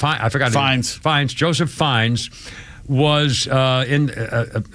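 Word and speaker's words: Fiennes: Is it Fi Fines? Fins. Rafe. Uh, Joseph. Ralph. How do you pronounce Ralph?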